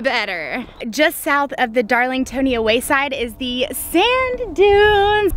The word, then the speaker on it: Darlingtonia: I guess it's Darlingtonia is how you say it, which means pitcher plants, California pitcher plants, which are carnivorous plants.